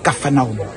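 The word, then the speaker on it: Kfar Nahum: parle de café Nam quand on parle de la vraie prononciation c'est Kafana c'est ici qui était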